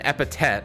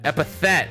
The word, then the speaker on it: epithet: if you have an epitet excuse me EP EP epitet epitet epitet doesn't sound right to me I'm probably saying it wrong but epitet like epithet epithet there it is like like I'm like